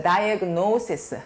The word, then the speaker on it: diagnosis: diagnosis. 소리 내보시죠. diagnosis. 노우의 강세가 있어요.